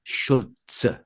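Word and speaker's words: Šulc: And in in the uh Czech language, the C like many Slavic languages is pronounced as a Ts. So, you've got Schulz.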